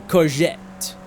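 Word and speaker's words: courgette: Is it soft G or hard G? Corette C or sorry, corette or corette? I I feel like it's a soft G. Yeah. No, that's all good. Hey, there it is. Read like French. Okay. So, yeah. Soft like a coette.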